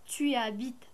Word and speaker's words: habites: Tu habites à Paris? Tu habites à Paris? Dak el h ma kantqouhach. Ngoula h muet ma katntaqch. Tu habites ma katntaqch ma kanqoulouch habite.